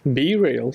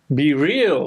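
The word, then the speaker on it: BeReal: I haven't it was be real yeah how do you pronounce it like e b e and then real be real oh okay I'm on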